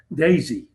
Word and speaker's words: DESI: DESI, I I just learned is pronounced DESI.